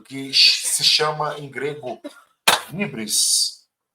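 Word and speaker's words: hybris: Ele comete um ato desmedido que se chama em grego hibris. Hibris se escreve H y B R I S. Hibris ou híbris.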